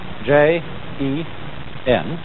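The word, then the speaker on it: 仁: Although, when we romanize this word in English, we spell it J-E-N, it's pronounced Jen. Sort of like rolling an R, or rather saying R but not rolling it.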